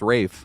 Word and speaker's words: Ralph: Ralph Fines character or it's Rafe Fines. I just just learned this. I've been saying his name wrong the whole time. It's Rafe apparently. Unless I was being trolled because I I looked like a few different places that was saying it was Rafe and I was like